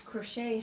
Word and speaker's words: crochet: Because It's crochet, honey, not crochet. it is spelled C-R-O-C-H-E-T. Crochet.